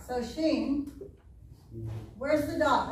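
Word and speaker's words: שׁ: How do you pronounce that? Sheen. Sheen. Sheen I said shin.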